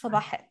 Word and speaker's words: Sabahat: Am I pronouncing your name properly, Sabahat? Sabahat. Sabahat is Sabahat. It's Sabahat. Yes.